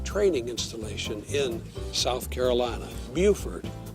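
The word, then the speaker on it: Beaufort: installation in South Carolina Buford not bord South Carolina Lewisburg Tennessee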